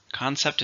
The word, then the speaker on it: concept: number six is concepts concept is a principle or idea it's a countable noun how many syllables do here concepts two stresses on the first concept it was an